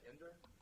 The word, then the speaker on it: Inder: help me, am I pronouncing it correctly when I say Ender? That's fine, yeah.